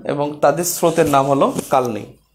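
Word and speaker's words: কালনী: Equal to কালনি। অর্থাৎ Surma plus Kushiyara এখানে মিলিত হয়েছে সুরমা এবং কুশিয়ারা এবং তাদের স্রোতের নাম হল কালনি। আসলে উচ্চারণটা হবে কালোনি।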